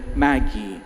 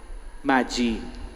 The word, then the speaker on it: Magie: nina Rudito and Maggie. Tama ba yung pronunciation ko? Ha? Tama. Hindi. Anong pronunciation ng pangalan mo? Magie.